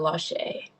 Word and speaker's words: Lache: First on my screen is, it looks like, is it pronounced Lache? Yep, first name is Lache.